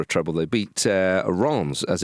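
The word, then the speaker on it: Reims: They beat uh Ron's as it's pronounced. Yeah, I thought it was uh Rem.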